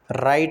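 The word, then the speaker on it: write: राइट में W silent है, राइट पढ़ते हैं इसे।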